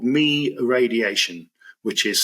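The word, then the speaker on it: Mie: There's something called MI radiation which is spelled IE E.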